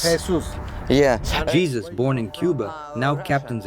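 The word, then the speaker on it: Jesús: In English, you got one. In Spanish, you got another one. In Spanish, Jesus. Jesus. Jesus. Yeah. Jesus, born in Cuba, now captains a yacht.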